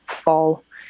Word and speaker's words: Pfahl: and then p-f-a because my last name is fall spelled very weirdly it's german but so you're french